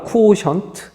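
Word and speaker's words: quotient: 그다음 큐오션트라고 해요 자 Q5 션트 라고 발음이 되기도 합니다 쿠오션트 자 나머지 또한 우리가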